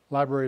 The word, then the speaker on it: LBRY: is hosted on the library network library is spelled lb y so if you're interested